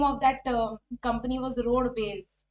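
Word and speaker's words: Rodbez: roadways as Road B Road Bas like this so that's how they named this company Road B base because it's the pronunciation is similar to roadways but actually if you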